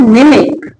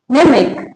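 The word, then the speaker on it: mnemic: सी कैसे लिखेंगे इसको निमिक कैसे लिखेंगे निमिक क्या है जब वर्ड के शुरू में एम हो और उसके बाद एन हो तो एम साइलेंट रहता है जैसे निमोनिक निमिक नेक्स्ट क्या है वर्ड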